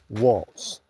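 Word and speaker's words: Walz: name is Tim Waltz w a l z Walts and his list of accomplishments I'm going to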